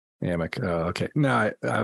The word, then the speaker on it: Amok: Chris I said what's uh mock what's what's a mock it's pronounced it's pronounced Amic uh okay no I I was confused I